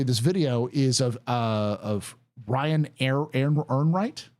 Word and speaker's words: Ehrenreich: And this specifically, this video is of Ryan Ehrenreich. I'm going to say his name right. Ryan Enright, I believe.